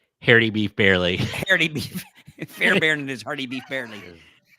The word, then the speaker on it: Fairbairn: it's not how you, It's Fairbairn. That's the way it's pronounced. Because it looks like it would be Fairbarn, but it's pronounced Fairbairn, right?